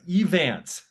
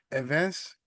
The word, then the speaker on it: Evantz: Uh depending on who you are, I just go as Evans. So pretend it's a EV. Uh, depending on if you're a fellow Haitian who's watching this, uh, Evance, some people pronounce it that way.